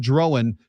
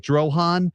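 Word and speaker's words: Drohan: And I know the pronunciation looks like Droan. It is Drowan. Drowan. Drowan. Drowan. and you're going to hear the TV and radio announcers say the same thing.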